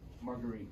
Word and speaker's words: Marguerite: Marguerite.